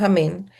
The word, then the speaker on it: amén: estrecho o estiro, digámoslo, estiro la última parte que es la EN. Pudiéramos decir que sería un amén.